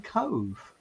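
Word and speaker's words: Cobh: Why would they wash it in Cove? Just the exact place where it happened to. I've never heard of Cove. Is it in Ireland? Yeah, but it's not spelled C-O-V-E. It's spelled C-O-B-H.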